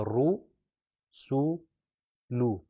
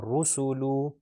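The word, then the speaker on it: رسولُ: تو یہ خیال رکھا جائے تینوں کے اندر ساؤنڈ او کی آئے گی.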